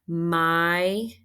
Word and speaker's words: migrate: My is long I. That is an open syllable. And look at this pattern. I see a vowel, consonant, silent E at the end. Do you agree? Long vowel, consonant, silent E. We're going to mark that one V-E. Okay.